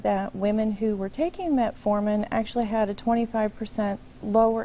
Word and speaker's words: metformin: The medication is that metformin. I have that correctly pronounced? That's correct.